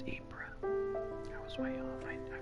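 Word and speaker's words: Ypres: was the gas the new BS so it's apra I was way off I figured I was but I didn't know era a down in RS dubbed wipers by British troops due to its difficult pronunciation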